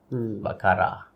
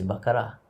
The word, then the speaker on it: Baccarat: Baccarat, as they call it. And Who call it that? The actual name is Baccarat. The T Serious? is silent. Yes. The T is silent.